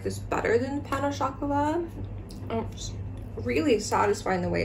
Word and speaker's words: pain au chocolat: That's how you say it here. Pain au chocolat is how you would ask for it.